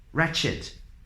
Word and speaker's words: wretched: all so wreak havoc wretched Fraggle wreckage wreckage right wrong wrath rap wreck wrestle Ragle without all without the W sound wrinkle raced Ryan Greek